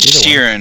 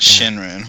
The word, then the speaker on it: Shirin: It's Shirin, not Shinrin.